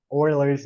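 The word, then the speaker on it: Euler's: turns out e is Oilers number that's how you pronounce it even though it looks a little bit weird e l r Oilers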